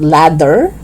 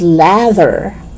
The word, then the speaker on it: lather: not weather okay weather lather not leather it's lather leather not leather but leather